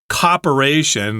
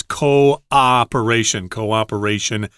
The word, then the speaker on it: cooperation: I've heard a lot of my students say cooperation. They kind of have one syllable there at the beginning. It's cooperation, or coordinate. That's also similar in pronunciation. Make two syllables there, cooperation, coordinate.